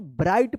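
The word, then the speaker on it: bright: आई के बाद अगर जी एच रहता है तो इस आई का आई उच्चारण होता है और जी एच क्या रहेगा? साइलेंट रहेगा। तो क्या पढ़ेंगे इसको? ब्राइट पढ़ेंगे।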